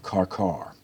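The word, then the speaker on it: Qarqar: appears on a monument celebrating the battle of carcar in the year excuse me in the year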